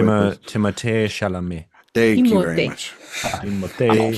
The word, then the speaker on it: Timothée Chalamet: under 36 performer is Timothy Chalamet. No, Jay, you didn't say it right. Can you say it the French pretentious way? Timothée Chalamet.